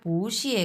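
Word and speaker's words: 不谢: number note হ্যাঁ তখন তাহলে আমরা এটা কিভাবে কি উচ্চারণ করবো পুশে পশে হ্যাঁ এটা তখন উচ্চারণ হয়ে যাবে পুষে কারণ দুই নাম্বার টোনে কনভার্ট হয়ে গেছে পুষে এটা আপনি চাইলে খাতায় লিখেও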